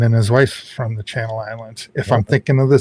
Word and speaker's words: Channel Islands: How do you say that? Is that the Chanel Islands or Channel Islands? What is that? Channel Islands.